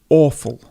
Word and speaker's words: awful: The soup was awful. So it's the sound aw.